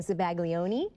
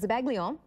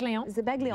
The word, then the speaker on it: zabaglione: I was saying Zabaglione, because that's the way it looks like when you spell it out. But it's Zabaglione, which I think... Zabaglione. Just leave the I off.